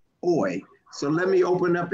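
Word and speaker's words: אוֹי: on last night is, what are your reflections about woe, or as it's pronounced in Hebrew, oi?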